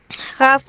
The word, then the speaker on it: have: Traten de no pronunciar la S cuando dicen have. El otro es has. Si dices S, te voy a confundirme con el otro, ¿sí?